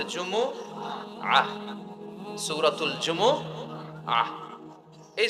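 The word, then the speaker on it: جمعة: জুমহ অনেকে বলে ফেলে জুমা জুমা আসলে আরবিতে শুদ্ধ উচ্চারণটা হচ্ছে জুমু আহ আহ সূরাতুল জুমু আহ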